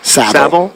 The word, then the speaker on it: Savile: Savile.